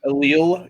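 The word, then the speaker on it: allele: alele there so many what the reason I pronounce it as alil is because there's a very similar word in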